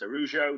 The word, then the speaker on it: Araujo: So we know they've asked about, I think it's pronounced Araujo, the centre-half for them, that's only just signed a new contract.